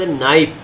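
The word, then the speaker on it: knife: तीसरा शब्द नाइफ, जिसमें के साइलेंट है और नाइफ शब्द लिखा हुआ है।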